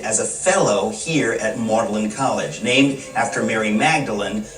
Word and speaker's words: Magdalen: a fellow here at marlin college named after mary magdalene but keeping its middle english pronunciation of maudlin lewis was 26.